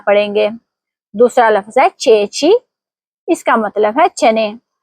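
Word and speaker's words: ceci: دوسرا لفظ ہے چیچی, اس کا مطلب ہے چنے. یہاں دونوں جگہ چی اے اور چی ای ہے اس لیے دونوں مرتبہ آواز چے کی ہوگی. صحیح تلفظ ہوگا چیچی.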